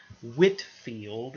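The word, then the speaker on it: Whitefield: coming from England is a minister named George Whitfield is how you say his last name so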